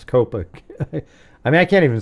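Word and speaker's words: Copacabana: Yeah, I thought it was Cocoa Cabana, but it's Copa.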